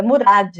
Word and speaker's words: Murad: É Murad, não é demudo.